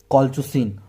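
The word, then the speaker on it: colchicine: आपका ये है, तो इसका प्रोनाउंसिएशन है कॉलचुसिन, कॉलचुसिन। क्या बोलते हैं इसको, कॉलचुसिन, कॉलचुसिन ऑटमनेल। कॉलचुसीन, इसका ऐसे प्रोनाउंसिएशन होता है, कॉलचुसीन।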